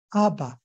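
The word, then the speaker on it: אבא: 和伊玛，都是重音在前面，它不是读成伊玛哈，看到没有？它是读伊玛、阿爸啊，所以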